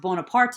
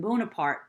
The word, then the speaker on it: Bonaparte: would have been pronounced Bonaparte a much more Italian pronunciation than Bonaparte so a little bit